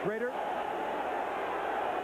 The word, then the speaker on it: Schroeder: There is Jay Schrader. Spelled Schroeder, but pronounced Schrader.